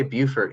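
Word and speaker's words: Beaufort: do y'all pronounce it we say Buford here in South Carolina but I know that's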